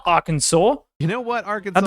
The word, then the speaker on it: Arkansas: Where is the W? Where do you get the W from? There's an S at the end. It should be Arkansas, not Arkansas.